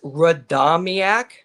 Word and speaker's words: Radomiak: All right, how do you pronounce that second name? Radomiak? It's Radomiak. Radomiak. All right. So it's like Quinnipiac's European brother.